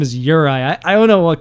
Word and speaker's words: Juraj: Now Uri, uh his name by the way is spelled J U R A J.